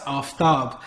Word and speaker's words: Aftab: af i said well he's pronouncing it correctly because it's it's pronounced aftab in the spirit of